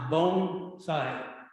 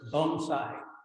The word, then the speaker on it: bonsai: those just starting out it's pronounced bone side phonetically bone the next word is side you might have heard something different but bonsai what that means is